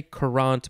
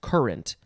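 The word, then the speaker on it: currant: we have current c-u-r-r-a-n-t i would kind of want to say qurant but no it's current i think this is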